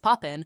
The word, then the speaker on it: POPIN: POPIN, pronounced Poppin, serves North Florida.